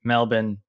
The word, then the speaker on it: Melbourne: And I now know to say Melbourne like Melbourne. I think Thomas King taught me how to say it that way.